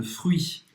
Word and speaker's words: fruits: En dessert, je voudrais une salade de fruits. Na sobremesa, eu gostaria de uma salada de frutas. Une salade de fruits. Então, presta atenção nessa pronúncia. Esquece o T e pronuncia bem UI. UI.